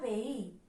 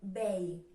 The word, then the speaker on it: veí: Anem a la paraula veí. Fixeu-vos com se pronuncia. Veí. No diem vei. Si estigueren juntes les vocals, si fora un diftong, pronunciaríem vei, però diem veí.